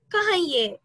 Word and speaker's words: cahier: A cahier. A cahier. Repeat after me. A cahier. A cahier. A cahier. A cahier. So, ma'am, H is silent, right? H is silent. Yes, ma'am. So, cahier.